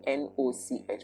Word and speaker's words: noch: You see the spelling N-O-C-H, but it's pronounced like knock, like when you knock on the door.